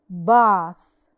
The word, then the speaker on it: boss: So when we pronounce the word boss, we are pronouncing the letter A, but we're not pronouncing the letter O.